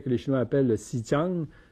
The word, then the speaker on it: Xinjiang: Le Tibet que les Chinois appellent le Xinjiang, X en passant, ça se prononce S en chinois.